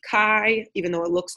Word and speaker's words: chi: this X with a little squared sign it's pronounced Chi even though it looks like chai or or